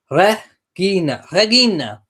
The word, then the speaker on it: Regina: Marcia says, having a linguistics background, have to add that the correct Latin pronouncement for Regina is Regina. Hard G as in God.